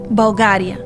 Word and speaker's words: Bulgaria: more local the name of our country is pronounced Bulgaria but we won't mind if you find a